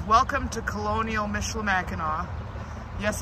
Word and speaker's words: Michilimackinac: says welcome to Colonial Michela Mackinaw yes it's pronounced with a w on the end not a c whenever it's a c it's always Mackinaw at this building here